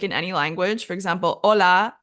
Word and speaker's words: hola: any language for example hola has an H but you don't pronounce it you don't say hola you say hola but then a word